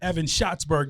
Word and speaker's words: Evan Schatzberg: We just heard from Chief Evan Schatzberg.